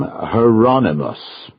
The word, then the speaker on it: Hieronymus: He pronounced the first name hieronymus. I thought that was how you said it. Rhymes with anonymous.